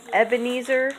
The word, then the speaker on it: Ebenezer: It kind of rhymes with sneezer. Sneezer, Ebenezer the sneezer.